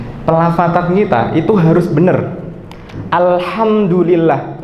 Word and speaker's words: alhamdulillah: Alhamdulillah pakai ha, bukan pakai ha. Kenapa saya tekankan mau pakai ha?